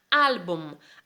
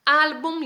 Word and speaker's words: álbum: lleva entonces aquí tenemos álbum álbum y lleva tilde al que se le va tónica por qué porque boom termina con m la palabra termina con